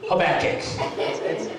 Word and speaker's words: Habakkuk: half of you haven't heard of it's called habakkuk it's habakkuk okay dad how do you pronounce it okay open to that book thanks